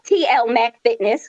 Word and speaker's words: TL Mac Fitness: You gotta say it right. It's TL Mac Fitness.